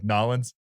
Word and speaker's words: New Orleans: seven or eight and my dad taught me how to say it like a cajun it's like nollens so i was cruising